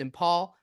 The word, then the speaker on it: Imphal: near impal airport uh imp H I think that's pronounced in Paul uh it was visible